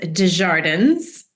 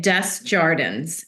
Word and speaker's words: Desjardins: Well, if you're in Canada, it's pronounced Desjardins. Okay. Desjardins. If you're in the United States, I often get Desjardins. So I'll take whatever.